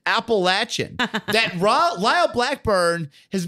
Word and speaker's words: Appalachian: correct way to say it let's hear that appalachian mountains appalachia mount so that is the correct